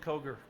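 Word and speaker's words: Koger: Can you say your name and spell it as well? Yes, it's Kroger, K-O-G-E-R, Fire Chief of South Adams County Fire.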